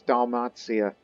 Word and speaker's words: Dalmatia: over um damazia again i pronounce it as dalmazia it's a south slavic way of pronouncing dalmatia anyways one will do if